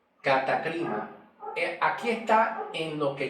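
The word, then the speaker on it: κατάκριμα: Pero la pronunciación se pronuncia catacrima, que es muy diferente la pronunciación según la escritura original, cómo se escribe.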